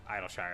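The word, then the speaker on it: Idyllshire: users there's no way idle Shire that's how you pronounce it ah the gobby Flop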